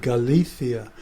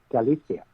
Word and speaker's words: Galicia: pronunciation I think it's a Castilian pronunciation when you said Galicia kind of the th on the sea sounds no seriously bartholow knows